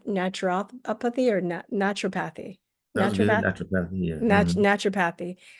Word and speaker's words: naturopathy: of natur uh how do you say n naturopathy or naturopathy?